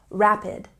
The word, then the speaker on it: rapid: very fast say rapid with a stress on the first syllable rapid rapid he drives very